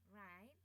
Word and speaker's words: write: think learn sometimes tell write bacanya huruf w-nya enggak kedengar enggak kedengaran ya bacanya right right right right short